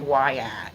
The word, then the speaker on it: Wyatt: His name is Wyatt. Oh, hey DJ. Thank you, baby. Like, and it's like why at like that's how it's spelled.